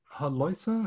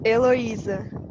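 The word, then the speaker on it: Heloísa: response to your comments do you pronounce your first name haloisa how do you say that it's eloise it's kind of true thank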